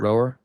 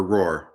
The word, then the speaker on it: Roher: Roher. Yeah, or Roar.